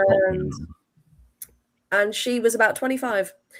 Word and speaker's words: Cockburn: Can confirm pronounced Coburn. I knew it was pronounced Coburn. I just wanted to say Cockburn to see if any of you Cockburn was familiar.